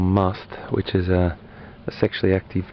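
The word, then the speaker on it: musth: Now if he was in something called must, which is a sexually active period where he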